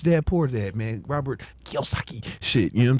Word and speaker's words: Kiyosaki: Robert Kiyosaki shit. You know what I'm saying? And that's how you say it, right? Yeah. Kiyosaki.